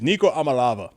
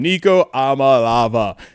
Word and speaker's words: Iamaleava: Nico, was it uh Amma Eva? Oh, I lava. There we go. Amalava. There it is. Nico Amalava. That's how you say his name. Nico Amalava.